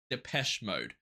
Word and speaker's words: Depeche Mode: is wrong here but Google says that the name is pronounced depes mode I've never heard of